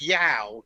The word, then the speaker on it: you: Well, because there's a number of times when the word spelt Y-O-U needs to be pronounced yow.